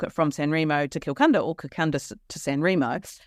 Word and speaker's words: Kilcunda: But further down the list at number 40 was Kilcunda in the Gippsland area of Victoria.